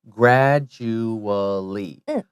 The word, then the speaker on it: gradually: gradually now this word if you say it slowly it's just like it's spelled gr ad you a LLY gradually but when we say it quickly gradually gradually you don't have to say that you uh it kind of goes together that's right Nagano guilty